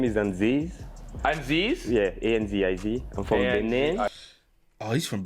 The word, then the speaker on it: Anziz: My name is Anziz.